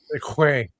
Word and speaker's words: segue: Seque. It's pronounced seque.